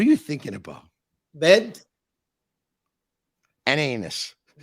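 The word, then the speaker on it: Anis: pronouncing your name right which is anus a-n-i-s what's your name that would be on this not anus that's in English I don't know what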